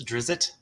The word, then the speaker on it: Drizzt: argument all the time is it dritz or drizz it foreign officially Canon is its Drizzt drizzle um I do too matter of fact that's how it reads phonetically one of my favorite